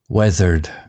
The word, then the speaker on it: weathered: Weathered sounds like weather. The ea sounds like feather.